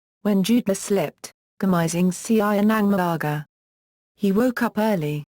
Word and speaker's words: ng: The genitive marker NG and the plural marker MGA are abbreviations that are pronounced nang and manga.